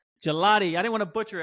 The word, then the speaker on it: Gigliotti: Can you please pronounce your last name for me? Gigliotti. Gelati.